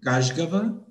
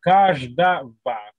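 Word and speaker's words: каждого: Ou C'est, tu vois la terminaison avec A, G, Kajgava. O, G, O, c'est le V. Kajgava. Kajgava. Non, Kajdava. Kajdava.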